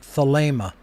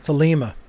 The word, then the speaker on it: Thelema: pronounced thalema or thalima it is a long a sound the ada sound in